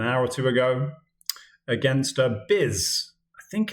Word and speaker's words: Byz: This is a game I just played about an hour or two ago against Biz. I think it's pronounced Biz. I think it's short for Byzantine Empire.